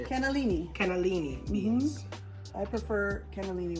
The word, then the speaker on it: cannellini: I like Or Great Northern for this cannoli. one. How do you say it? Cannellini.